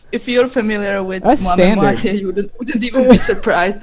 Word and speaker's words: Moi-même-Moitié: So KAMIJO is doing a collaboration with Hatsune Miku, and I don't know how to pronounce this collab. It's Moi-même-Moitié.